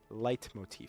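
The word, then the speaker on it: leitmotif: it's actually very interesting light Motif but it's spelled I I think l e t Motif just puzzle after puzzle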